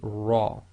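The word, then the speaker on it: ر: So when the Ra itself carries a Fatha, it will be pronounced as tafkheem, i.e. heavy, full mouth, i.e. lifting up the posterior of the tongue, making your mouth more full, the lips go slightly round, so this will be Ra.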